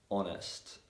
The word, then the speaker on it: honest: So for example, in the words our, honor, honest, yeah. And sometimes the letter H is silent when it comes after the letter C.